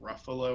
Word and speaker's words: Ruffalo: It's Mark Ruffalo or Mm-hmm. something. I'm saying his last name wrong.